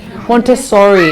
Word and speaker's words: Montessori: Montessori is how you pronounce it.